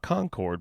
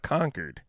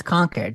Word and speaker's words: Concord: five years to learn that Concord is not Concord but conquered yeah it's conquered just like Worcester and all that yeah but